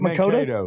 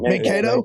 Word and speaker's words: Mankato: Mankato. Mankato.